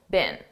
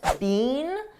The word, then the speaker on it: been: Now notice I said been, a very unstressed been.